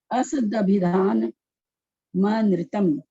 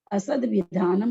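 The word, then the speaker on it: असदभिधानमनृतम्: असदभिधान नृतम, ध्यान देंगे कैसे पढ़ना है। असद विधानम नहीं पढ़ना है जो हम लोगों के मुंह पे पड़ा हुआ है, असद विधानम नृतम हम लोग पढ़ते हैं प्राय करके।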